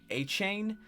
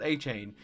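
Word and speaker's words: Achane: between Raheem moer and Devon achain I believe is how you say it I believe I've heard a couple people say both but I'm going to go with achain or a a a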